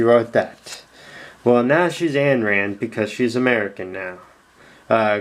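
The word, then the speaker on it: Ayn Rand: guard dragon cataclysm now most people could say oh you gotta pronounce it on rand because she was russian well she is a russian american she uh became an american so um calling her anne rand is more proper technically uh gladiator beast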